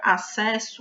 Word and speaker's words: acesso: Então, se a gente for fazer a transcrição fonética da palavra acesso, vai ficar A-C-E-S-O. Esse SS é como se fosse apenas um S.